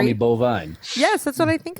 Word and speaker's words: Boivin: So it is Boivin. Boivin. I'm going to do like in a Gary Vee episode where he's like Vaynerchuk. Boivin. But if you spell it Boivin. B-O-V-E-N, you'll get it phonetically correct.